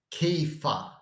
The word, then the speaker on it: Kepha: And how do you say rock in Aramaic? You say Kepha, Kepha.